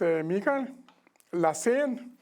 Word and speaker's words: Mikael Lassén: Well, as you told, my name is Mikael Lassén, pronounced.